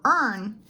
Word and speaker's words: earn: For earn, the R controls the vowels, so you only want to pronounce earn.